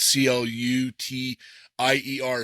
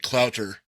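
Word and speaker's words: Cloutier: I have a friend who his last name spelled C L U T I E R. So it looks like Clout and it's actually Clutier.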